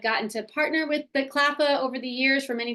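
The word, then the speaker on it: CLPHA: I'm the Director of Cross-Sector Initiatives here at CLAFA. That's how we pronounce that acronym.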